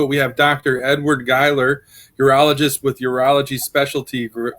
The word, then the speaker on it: Gheiler: last name right right it is dr edward geiler that's correct oh i had to pronounce the pronunciation right so let's get right